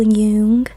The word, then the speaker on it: Jung: So, to talk about Yian psychology, we got to start out with our main man, Carl Yung. I know it's spelled Jung, but I just came off the r/ subreddit, and I never go on Reddit.